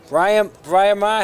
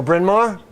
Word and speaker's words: Bryn Mawr: Brian Ma had the first girls hockey team in Baltimore. Oh, Bryn Mawr?